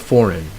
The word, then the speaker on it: foreign: a large African antelope and then you have foreign okay you also drop the G next is words that